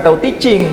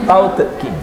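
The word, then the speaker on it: Tao Te Ching: Tauhid yang betul itu bacanya bukan Tauhid Teaching, tapi Tauhid King. Selama ini menghafal Tauhid Teaching.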